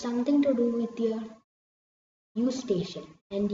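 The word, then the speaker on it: Eustachian: to do with your u station and you pronounce it as u station U and station it is a tube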